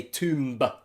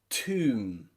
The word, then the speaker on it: tomb: after the m sound at the end you can see that that b is silent tomb comb bomb now you probably can see a pattern already omb that is when the b sound comes after a consonant especially a strong consonant like m it is normally always